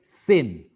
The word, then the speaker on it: sen: But the pronunciation in Malay, sin.